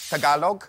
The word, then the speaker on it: Tagalog: of the Philippines how do you say that Tagalog Tagalog Tagalog yes which means thank you thank